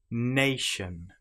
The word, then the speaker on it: nation: Nation, lotion, potion. You will notice that the TI here is pronounced exactly the same as the sh sound.